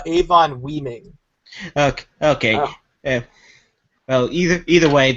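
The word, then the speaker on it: Avon Oeming: It's written by Brian Michael Bendis and drawn by Michael Avon Omin. I'm not sure if I pronounced that right. I think it's pronounced Avon Weeming.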